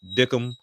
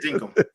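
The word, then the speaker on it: Dinkum: If you were into the farming lifestyle, Animal Crossing type situation with with Dickham, I think that's how you say it. Yeah, Dinkham.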